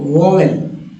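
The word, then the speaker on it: vowel: अब चलिए आगे बढ़ते हैं दोस्तों वॉवेल, ठीक है, कुछ लोग वॉवेल बोलते हैं, कुछ लोग वॉवेल बोलते हैं। अब इंडिया है भाई, वॉवेल ही बोलेंगे, वॉवेल, लेकिन मुझे पता है कि वॉवेल होता है।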